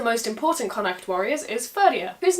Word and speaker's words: Ferdia: Now one of the most important Connacht warriors is Ferdia, whose name is fortunately pretty easy to say. I generally pronounce it the way the modern name is spelled. Ferdia.